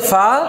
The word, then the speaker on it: فا: কেমন তাহলে নাম হচ্ছে ফা হচ্ছে কফ বলেন ফা ফা ফা ফা এই নিচের ঠোঁটের প্যাটের সাথে উপরে দাঁত লাগবে ফা ফা ফা ফা ফা ফা দুই ঠোঁট একসাথে লাগবে না ফা না ফা ফা